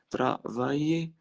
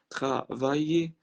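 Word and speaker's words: travailler: ترافايي. ال من حرف الاي وحرف الاي ما بتتنطقش. ترافايي ترافايي. يعمل او يمارس يعمل او يمارس فير.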